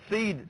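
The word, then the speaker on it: Cede: nominee nominee means name it's called seed seeding company c-e-d-e and it's spelled in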